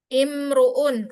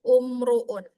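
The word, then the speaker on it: امرؤ: Imruun bukan umruun ya.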